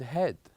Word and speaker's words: head: So here we said that with EA, they are pronounced differently in different words. So for example, here we pronounce it as sleep, read, and head. Sleep, read, head. So in sleep and read, we have a longer vowel. But with the last one, we have a very short one.